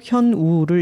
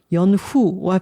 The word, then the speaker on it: 현우: 독일식으로 현우를 읽으면 연후와 비슷한 소리로 희한하게 발음되고 현우라는 이름을 독일인들이 기억하기 어려울 것을 알아서 스스로 그렇게 소개했어요.